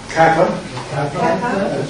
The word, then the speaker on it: kappa: Kappa. It's spelled small letter here, large letter here, as in keep.